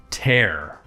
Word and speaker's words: tear: at the other one tear yes it's pronounced tear and it's a verb it's an irregular verb